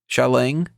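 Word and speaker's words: Xialing: now I wasn't as big a fan of shalang if I remember correctly that's how they pronounced her name wasn't as big on her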